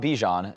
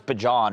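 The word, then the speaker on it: Bijan: Because it's not Bjon. It's not like Oh Then I've been saying it wrong. No, like he like he like went on like a show and he's like it's Bon or something. Yeah. It's like it's like it's not pronounced Bjon. I just know like he like doesn't pronounce it that way.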